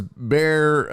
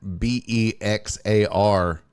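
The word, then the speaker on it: Bexar: By the way, how old were you when you learned that Beex AR spells bear? I always said it. I always pronounced a Beexar like a dumb Uh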